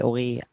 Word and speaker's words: Ori: How did your musical identity change when you met Ori and you started working together? I'm not even trying to say his name in Hebrew, by the way. So I'm just straight soft American R for him.